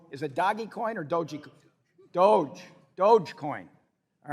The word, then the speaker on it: Dogecoin: When he came out with Doggy Coin, Dogecoin, or I don't even know how you say it. But I have 10 Dogecoin, which a year ago, is it Dogecoin or Dogecoin? Dogecoin.